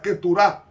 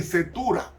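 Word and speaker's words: Keturah: Porque los madianitas eran descendientes de Abraham por vía de su tercera esposa llamada Setura, que se pronuncia Keturá en hebreo. Con esta mujer tuvo 6 hijos. Y los madianitas venían de Setura.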